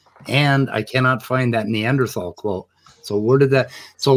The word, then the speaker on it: Neanderthal: So if you're doing it German, it would be Neanderthal, but spelled with a TH.